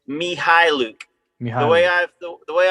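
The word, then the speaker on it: Mykhailiuk: The the K is silent. According to the official Thunder Press Guide pronunciation, it's Mihil.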